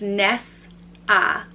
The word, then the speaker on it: Nessa: the next name is Nessa and it's pronounced Ness ah Nessa another very easy one